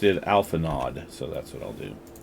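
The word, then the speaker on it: Alphinaud: He He pronounced it alpha nod. So, that's what I'll do. Alpha Nod.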